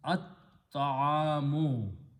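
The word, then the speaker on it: الطعام: So it will be al ta'amu, but ta is a shamsi letter, so it is not, lam is not pronounced. Instead, ta is pronounced twice. So this is become at-ta'amu. At-ta'amu means the food.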